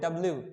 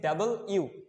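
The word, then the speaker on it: W: রং pronunciation, এটা হচ্ছে ডাবল ইউ। এখানে তুমি একটু ডাব্লিউটাকে ভাঙাও, লাইক ধরো এখানে দেখো, এটার ক্ষেত্রে কয়টা, এখানে দুইটা ইউ আছে অ্যান্ড দুইটা ইউ মিলে হচ্ছে একটা ডাব্লিউ হয়েছে, ডাবল ইউ।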